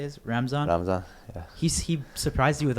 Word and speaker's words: Ramzan: Ramzan, yeah.